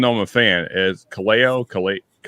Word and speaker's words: Kaleo: So the only thing I know musically from Iceland is I always say their name wrong, even though I'm a fan. Is Kaleo. It's Kaleo.